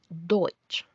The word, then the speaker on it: Deutsch: La E con la U suena hoy, como en Deutsch.